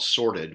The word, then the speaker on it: Sortd: So I use Gmail for email, and we recently started using a product called Sorted, which is spelled SORTD.